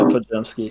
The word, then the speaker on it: Podziemski: Podziemski. Yeah, Podziemski.